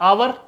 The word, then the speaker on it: hour: HOUR, English में आवर, Hindi में आवर यानी घंटा यानी समय।